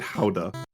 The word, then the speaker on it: Gouda: But like I started calling it Howda.